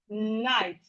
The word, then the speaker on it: night: You have I, night.